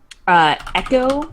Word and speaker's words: Eqo: Their name is Echo, but it's spelled EQO. Echo.